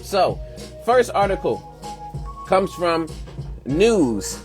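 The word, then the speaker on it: Knewz: first article comes from news which is spelled like k-n-e-w with a Z news and uh articles headline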